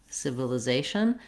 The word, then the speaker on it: civilization: to speed it up so you want civ or civil uh it doesn't matter too much if i'm using a schwa here or an e sound they're all going to be reduced vowels which is part of why they go by so quickly so civil the civil